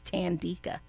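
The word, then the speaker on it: Thandeka: There's a wonderful author, her name is Tandeeka. It's spelled t h a n d as in David e k a.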